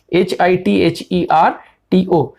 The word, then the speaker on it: hitherto: हिथरटू, HITHERTO. Never pronounce H, always pronounce it as H. It is not H, it is H. Hitherto, HITHERTO.